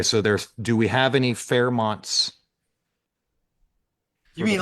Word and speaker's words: Fairmont: That's why I'm saying, like, even the Fairmont was nothing because he said Fairmount. Yeah, he said it wrong.